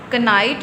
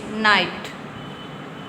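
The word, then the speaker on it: knight: इसी तरह कनाइट नहीं बोलेंगे। नाइट नाइट इसमें के साइलेंट है।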